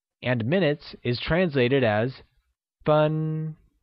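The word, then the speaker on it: 分: vocabulary so let's start minutes translates to fun and is pronounced with a high level tone here's a quick grammar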